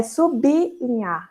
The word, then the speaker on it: sublinhar: Mas a pronúncia correta é sublinhar. Então, sublinhe a linha, sublinhe o texto. Porque o prefixo sub, nessa palavra, a seguinte letra é a letra L. Então, vai haver a separação.